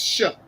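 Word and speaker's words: Shough: So, New Orleans Saints quarterback's last name is SH, but it's pronounced Shuck.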